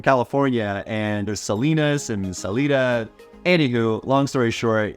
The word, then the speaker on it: Salida: experience for yourself is Salida and I'll be honest I cringed a little when I first heard Salida instead of Salida which is what I'm used to coming from California